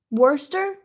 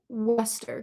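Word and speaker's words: Worcester: Worester. Worester. Well, you guys would say Worester because you guys don't really pronounce the R.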